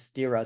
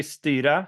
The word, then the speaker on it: Styra: all right cool um so you you mentioned styra I always thought it was sta to be honest but okay fair enough yeah no like the Swedish pronunciation would be sta which is uh so you're you're definitely right